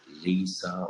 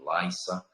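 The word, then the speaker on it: Lyssa: spell it because uh these words sometimes are being pronounced differently from American English to the the British English but it is ly so it's if you get it Lisa or Lysa so it's a l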